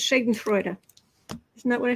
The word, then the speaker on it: Schadenfreude: Nuclear Magenta says it's pronounced Schadenfreude.